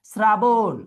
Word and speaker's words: শ্রাবণ: মাথায় রেখে করতে হবে শ্রাবণ শ্রাবণে কি আমরা তালব বর্ষ উচ্চারণ করি নাকি স উচ্চারণ করি শ্রাবণে আমরা কি উচ্চারণ করি বলতো শ্রাবণে আমরা কি উচ্চারণ করি বল শ্রাবণের তালব্যসন দন্তস উচ্চারণ করি হ্যাঁ অনেকে কমেন্টে লিখতে পারতেছো দন্তস ঠিক আছে তাহলে যেহেতু দন্তস উচ্চারণ হবে শ্রাবণ তাহলে বোন।